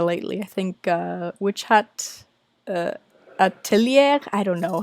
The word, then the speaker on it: atelier: I think Witch Hat Atelier. I don't know how to say it. It's that French word for school. Atelier. I don't know. Atelier. I keep calling it Altair, which I know is not right.